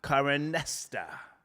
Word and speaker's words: Karenista: I want to make sure that I'm also promoting, because I got the correct pronunciation now. Great artwork, okay, on the screen. Karenista.